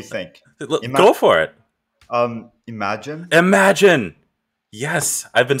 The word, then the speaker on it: Imagen: and the newly announced imogen image gen imogen i've been saying it all well i've been saying it wrong all week as a joke and now i don't